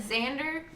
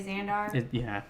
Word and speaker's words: Xandar: Like, I almost said Xander, but for some reason my brain knew to say Xandar.